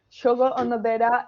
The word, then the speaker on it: Shogo Onodera: Did I pronounce that correctly? Or Yes, it's correct. Thank you. so it's exploring the restorative design through architecture. And so SHOGO ONODERA is an architecture and design office based in Tokyo.